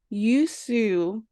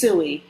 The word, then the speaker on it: Usui: So, what exactly is a Yusu? And did I pronounce correctly? Please. Usui, Usui.